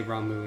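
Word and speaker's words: Ramuh: I think they say Ramu in this game. That seems to be the canon pronunciation of it.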